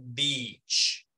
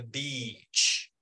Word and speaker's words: beach: es muy importante que cuando hagamos la i larga alarguemos y entonces cuando estamos hablando si yo voy si yo voy a pronunciarla ahí larga es imposible no pronunciarla y larga sin sonreír es Esa es la clave miren que cuando yo digo playa yo digo vich I love the beach Eso es todo es alargarla ahí si yo voy a decir